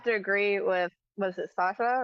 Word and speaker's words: Sasha: Well, I mean, I'm gonna have to agree with, was it Sasha, right?